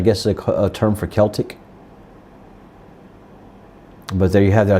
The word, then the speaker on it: Celtic: I've got to get used to saying Celtic. I'm saying both because most of the Americas are used to Celtic, but it is actually Celtic, the pronunciation.